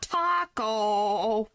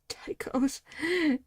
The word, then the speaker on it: taiko: The piece of evidence is inconsistent with the statement about the taiko Taiko, not taco. Taiko drums, not taco.